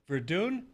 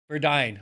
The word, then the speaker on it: Verduin: And Verduin, did I say it right? Verduin.